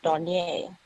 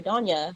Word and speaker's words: Donier: And my name is Donier, and it's spelled D as in dog, Onyya, and there's an accent on the A. But people call me Donya when they see it, so we just go by Doni.